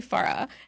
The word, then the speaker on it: Farah: And I was just like, it's actually Farah.